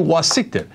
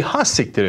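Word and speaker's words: hassiktir: And it's like how I do wasiktir. It's actually hasiktir in Turkish. Mm-hmm. And every Turkish person that has seen it goes, Cenk, you know you're saying it wrong.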